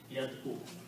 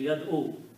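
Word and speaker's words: يَدْعُو: Now, vowel is a weak letter here and it is hard to pronounce, so we adjust a little bit sound here.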